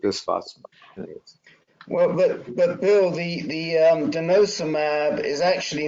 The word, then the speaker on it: denosumab: Well, but Bill, the denosumab is actually not a bisphosphonate.